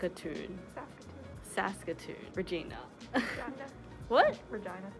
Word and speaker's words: Regina: tune Saskatoon Regina what Regina Regina yeah it's pronounced vagina yep going to Australia